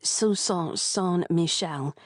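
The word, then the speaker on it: St. Michelle: She pronounced it sus Michelle which sounded very posh and very French and made greedy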